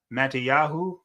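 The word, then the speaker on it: Mattityahu: first hidden figure Mattias the way we say his name in our language in our ancient ancestors language is mattiyahu come on write that down matathias son of John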